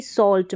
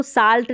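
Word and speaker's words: Salz: ऐसी कई स्पेलिंग्स रहेगी और औ साउंड जैसे कि सॉल्ट में इसको साल्ट नहीं पढ़ सकते साल्ट पढ़ेंगे और साउंड प्रोड्यूस होगा तो इस तरीके से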